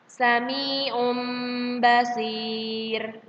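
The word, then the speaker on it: سميع بصير: Maka dibacanya tarkik tipis. Sami'um basir.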